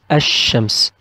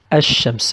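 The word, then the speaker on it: الشمس: On the other hand, if Sha, one of the other team, came after Al, we will not pronounce Al clearly. We will just pronounce A. We will say Ash-Shams, Ash-Shams. And we will put Shadda on Sha, so we will stress on Sha, Ash-Shams.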